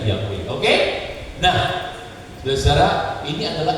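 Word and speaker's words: Yahweh: Yunani itu memberi kesaksian bahwa nama itu dipronunnya diucapkannya yahwe diucapkannya yahwe dengan huruf latin tertulis di berarti dibacanya yahwe oke nah saudara-saudara Ini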